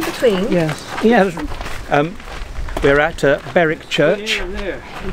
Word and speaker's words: Berwick: We're at Berwick Church.